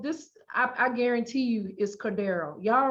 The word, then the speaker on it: Cordarrelle: It's spelled Cordarrelle. That sound. Cordero. Cordero. That's bothering me. Cordero is Cordaryl. I don't like it. The people that's announcing it might be announcing it wrong.